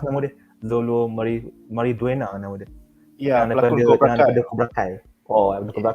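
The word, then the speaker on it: Xolo Maridueña: Oh yang Blue Beetle tu pun aku excited juga sebab ada Zolo macam mana sebut pronounce nama dia? Zolo Mariduena nama dia.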